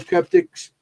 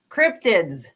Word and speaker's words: Cryptids: I was at the Ford Cryptics. Did I say it right, Jenny? Because you're always correcting me. No, say it. You didn't. Cryptids with a D.